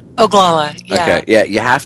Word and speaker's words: Oglala: the documentary Incident at, and I want to pronounce this right, Oglala, right? Oglala, yeah.